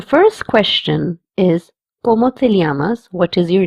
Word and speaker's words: llamas: As you can see, the third word has two L's. In this, two L's will be pronounced as lia or ya. If you're in Spain, you will pronounce as lia, and if you're in Latin America, you will pronounce it as ya.